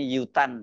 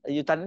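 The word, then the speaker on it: U Thant: satunya itu sangat namanya yutan itu atau utan ya bacanya Ya mungkin utan bukan yutan ya tulisannya utan ini seorang diplomat karir dari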